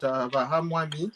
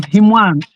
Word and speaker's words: Himwami: In the meantime, we've got Vahamwami has just joined us. Vamacha, how are you? Before I answer your greeting, I'll take you to court. You are mispronouncing my name. I'm Himwami.